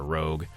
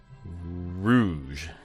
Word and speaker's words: Rouge: I should know how to say the difference between Rouge and Rogue, but I sure don't. I think it's... Rouge. Yep. All right, thanks, dictionary. Rouge.